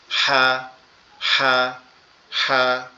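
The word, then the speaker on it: ح: অনেকটা ওই ফ্যাস ফ্যাসা আওয়াজের মতো উচ্চারণ হবে। হা হা হা এরকম, ঠিক আছে?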